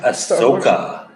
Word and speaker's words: Ahsoka: Ashoka? What's this girl's name from Star Wars? Ahsoka. Ahsoka. Ahsoka. Yes, the Ahsoka. H is silent, which Okay.